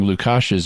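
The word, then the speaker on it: Lukaš: compliment you earlier for pronouncing Lukash's name right, because it's spelled as an S with a caret over it, and that little caret symbol is used to make the sh sound in many orthographies.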